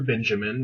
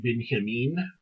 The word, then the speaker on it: Benjamin: This is, I know a lot of people say Walter Benjamin. That's not how we say his name. His name is Walter Benjamin. He's German, so it's Walter Benjamin.